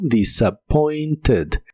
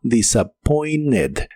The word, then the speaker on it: disappointed: En este caso se pronuncia con la e suave como disappointed. Disappointed. Pero en inglés conversacional es muy común que no se pronuncie la t de esta palabra y solo la dicen como disappointed.